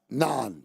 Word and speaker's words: naan: Is that Is that how you pronounce it? Look it up. Naan.